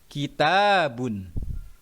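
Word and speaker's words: كِتَابٌ: Cara membacanya harus dipanjangkan 2 harokat atau 1 alif. Contohnya seperti yang pertama yaitu fathah bertemu alif mati. Kitabun. Ya. Kitabun. Setelah huruf ta itu ada huruf alif mati yang sebelumnya di fathah,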